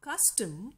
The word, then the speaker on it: custom: the word custom now custom when it's it is spoken it is the first syllable cuss which is stressed and the second syllable tum is shortened is not so long and so it is unstressed so what is a